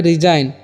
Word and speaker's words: resign: उसी तरह से डिजाइन, DESIGN, डिजाइन मीन्स क्या होता है, रचना, यहाँ पर भी जी साइलेंट है। यहाँ पर है रिजाइन, RESIGN, रिजाइन मीन्स क्या होता है, इस्तीफा देना, ठीक।